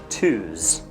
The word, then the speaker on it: Tuesday: does he want oh it's pronounced twos and it's probably just